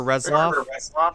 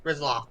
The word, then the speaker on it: Retzlaff: Parker Retzlaff. Am I saying that right? Parker Resloff? Rizloff. I knew I was saying it wrong.